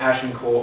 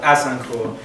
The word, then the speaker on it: Azincourt: Crispin's Day speech is set around the Battle of Agincourt, or Azincourt, if you pronounce it correctly, unlike the English, which took place in 1415 in France during the 100 Years' War.